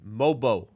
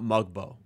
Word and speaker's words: Mogbo: you pronounce Jonathan mobo don't pronounce the G mobo not mogbo mobo however you pronounce it